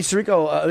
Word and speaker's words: Sirico: I heard Tony Sirico.